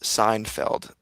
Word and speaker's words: Seinfeld: Joanna says, it's pronounced Seinfeld.